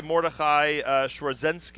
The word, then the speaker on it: Mordechai Schwarzenski: We have with us Rabbi Mordechai Schwarzenski. Is that the correct pronunciation? Correct.